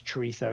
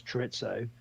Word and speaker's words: chorizo: But where I learned, one of the big differences between it's the Z being pronounced as the TH. So like in some parts of Spain you pronounce chorizo as chorizo, and in other parts of Spain you pronounce chorizo as chorizo.